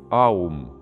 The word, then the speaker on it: аум: Для этого он должен произносить трансцендентный слог «аум». Или как мы обычно помним, это «ом» мы называем, но он три звука имеет – «а», «у», «м».